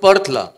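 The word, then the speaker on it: Perth: या 28 दिवसांमध्ये एकदाही पर्थ हे बोलता आलं नाही त्यांचा जो उच्चार आहे पथ तो खूप वेगळा असतो म व्र य लड म्हटलं की आम्ही पर्थ म्हणायच त्यांना कळायचच नाही शेवटी आम्हाला स्पेलिंग सांगायला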